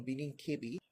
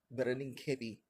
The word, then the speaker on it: Birnin Kebbi: I used to pronounce this one Birnin Kebbi. However, I learned that it's pronounced Birnin Kebbi.